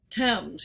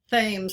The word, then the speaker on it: Thames: gave us words like thames you know the first time you saw the thames river printed you probably thought you should pronounce it thames like james but it's pronounced unusually because from the celtic